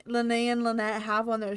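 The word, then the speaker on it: Lyney: convinced that it was Len and Lynette Lenny and Lynette I I I keep I keep saying it with the the why at the end but the why is silent at the end apparently yeah that whole section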